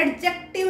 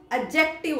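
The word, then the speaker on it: adjective: सी टी आईवी ई डी जो है वो साइलेंट होता है एडजेक्टिव नहीं होता बेटे एडजेक्टिव होता है ठीक दूसरी चीज देखो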